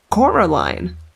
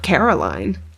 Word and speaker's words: Coraline: They kept saying Coraline. Not Caroline. Not Caroline at all.